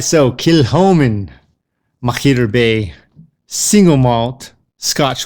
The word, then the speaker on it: Kilchoman: We have the Kilchoman Man, and that's Kilchoman Man. That's how I remembered it. Kill the hoe, man.